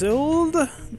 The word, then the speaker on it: Suild: I think it's Suild. Let me just show you on the board there. It's spelled like build, but with an S.